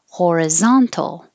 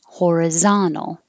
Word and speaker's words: horizontal: syllables deliberately either one horizontal or you can get rid of the t horizontal definitely you don't have